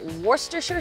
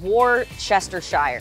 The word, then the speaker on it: Worcestershire: a little worcestershire sauce can you pronounce that for me one more time worcestershire sauce because i would have said war chester shire it's makes no sense it's worcestershire worcestershire worcestershire yeah growing up let's